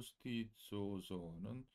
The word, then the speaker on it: stizzoso: Z가 두 개가 있기 때문에 요거 참 발음하기가 힘들죠. 쏘 발음이 나는데. 스티치오, 이렇게 입이 좀 다물어져야 돼요. 스티치오소, 미오 스티치오소. 오에 액센트가 들어가고요.